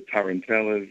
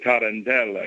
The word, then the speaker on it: tarantella: I play or the the tarant tellas and the Tarantella excuse me I should say it correctly and uh it's just